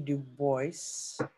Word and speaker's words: Du Bois: Du Bois.